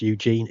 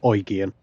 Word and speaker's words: Eugen: get out of the way of them Prince oan down there I know everybody calls it Prince Eugene even I call it the prince Eugene but torsson is German and it is pronounced oan so there we go um we'll do it